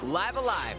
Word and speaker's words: Live A Live: previously unreleased outside of japan the rpg live alive makes its overseas debut okay so that's the official pronunciation stories featuring different protagonists and time periods